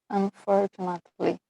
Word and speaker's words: unfortunately: So, tem chan, mas a sílaba tônica ainda é for.